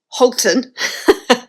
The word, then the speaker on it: Halton: That's how it's spelled. But it is pronounced Holton.